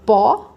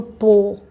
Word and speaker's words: pó: Eu falo pó, mais aberto, mais agudo, ou eu falo pô, mais pra dentro?